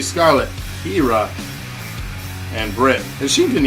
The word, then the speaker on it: Kyra: It looks like Kyra. Kira. I was gonna mess it up. Last chance to get your votes in. Match 3. Exclamation point. Match 3. Scarlett, Kira, and Britt.